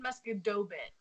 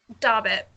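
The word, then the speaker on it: Musquodoboit: I said Muscadobit. Dabbit. You don't pronounce the second O? Or is it third? How do you spell it? There's 3 O's. Okay, so you don't pronounce the third O.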